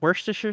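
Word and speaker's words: Worcestershire: I see it's it's wor sauce. Worst sauce. Yeah. Uh so yeah, worsture sauce is the proper way to say it, but but everyone has usually difficulty saying it like they do.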